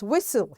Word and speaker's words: whistle: This is silent T and the word is whistle. Here T is silent.